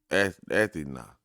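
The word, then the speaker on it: Ἀθῆναι: It said the name of Athens in ancient Greek was Athena, pronounced roughly Athena, something like that.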